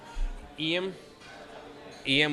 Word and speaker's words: Lim: Eam, which is the South Korean. Right. Spelled Yes. spelled Lim. Yes. But Eam is what I understand how you pronounce it.